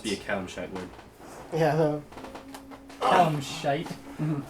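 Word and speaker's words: Calishite: Yeah, Callum Shite.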